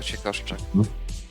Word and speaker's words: Ćwiekoszczak: It's just 3 syllables for ķWIEKOSZCZAK. Yeah, 3 syllables only.